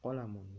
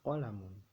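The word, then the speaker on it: قَلَمٌ: kelaparan panjang-pendek diperhatikan ya Jadi yang sering salah tuh biasanya di kata ini qalamoun biasanya dibacanya Kuala memohon atau kolam On itu salah ya jadi pokoknya di sini pendek alamnya juga pendek jadi bacanya hadza qolamun hadzihi Olla Moon qolamun itunya bukan qalamoun atau halaman bukan salah Jadi yang betul qolamun kemudian di miftahun tanya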